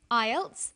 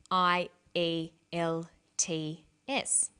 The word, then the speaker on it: IELTS: acronym with an acronym we don't pronounce the individual letters we pronounce it as a word so we say IELTS not i e l TS some other examples of